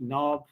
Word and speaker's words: knob: is no clue why k or what k sound or k the letter k is doing you know in these words you know like no knee knob etc so is the case